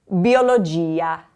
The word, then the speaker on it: biologia: I already said that ia is the accent. It's enunciated. Biologia.